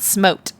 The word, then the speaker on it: SMOTE: Oh, there's no E at the end. Well, there's an E after in technique. Oh, jeez. Is it spelled with an E? Yes. Smote sounds better than smot, right?